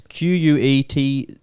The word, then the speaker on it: quetzal: very hard to read uh i can't even pronounce it it's q-u-e-t-z-a-l quetzal oh the quetzal that's a pokemon i